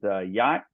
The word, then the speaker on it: Hjort: I know my name doesn't look like Yacht, but H-J-O-R-T is Yacht. It's pronounced just like a really nice boat.